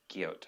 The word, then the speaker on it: Guyot: Right, and there's a lot of casting directors that are on it now, and like Paul Guyot and Guyot, I think is how you say his last name, showrunner from, he's a writer, yeah.